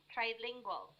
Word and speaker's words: trilingual: anyway by the way it's pronounced as tri trilingual trilingual charlie no not tree but try uh it's not chuli